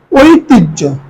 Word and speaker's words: ঐতিহ্য: মধ্যে আরই দস্ত দিলেও হবে হৃদয় জ্ঞান জ্ঞানের উচ্চারণ করি জ্ঞান গ জফলা আকার দন্তন্য ঐতিহ্য ঐতিহ্য ওই একটা যৌগিক সর ও একটা যৌগিক